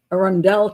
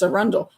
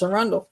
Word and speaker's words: Arundel: podcasts, they go and they go an Arundell County and just kind of like I'm like, "No, it's a Rundle. That's a Rundle."